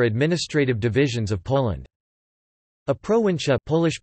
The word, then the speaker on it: prowincja: be looking for administrative divisions of Poland a pro in chat polish pronunciation PR VIN SJ a plural proactive ition